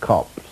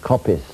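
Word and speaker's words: coppice: older for form but it was always pronounced cops to by anyone any that is who was born anywhere near them you were some times hear the word Copus spoken by some red brick Forester and if you uh look in the Oxford dictionary and you find it disagrees with me about these two pronunciations which you will find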